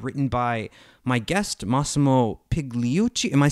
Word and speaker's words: Pigliucci: It's a 52 week-by-week lessons guide written by my guest, Massimo Pigliucci. Am I saying your last name right? The G is silent, so it's Pigliucci. Pigliucci, okay, I'm sorry, I should have asked that.